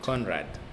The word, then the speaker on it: Conrad: Conrad. You have to relax your tongue.